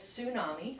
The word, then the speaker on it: tsunami: that you don't know this word is tsunami in case you didn't know the t is silent and see if we